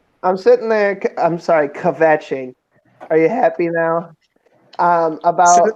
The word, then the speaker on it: kvetching: I'm sorry, kvetching. Are you happy now? About having to eat. I mean, come on, pronounce the chet a little bit.